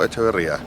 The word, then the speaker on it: Echeverría: correct yes you did if I say straight Chilean is AIA okay that's good that's